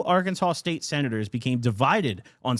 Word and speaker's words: Arkansas: Arkansas with an S on the end, but pronounced Arkansas with a W on the end.